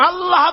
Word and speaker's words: আল্লাহ: পাকের নাম হচ্ছে আল্লাহ মুখটা একটু গোল হয়ে যাবে বলেন আল্লাহ আল্লাহ পৃথিবীতে বিভিন্ন জাতি তার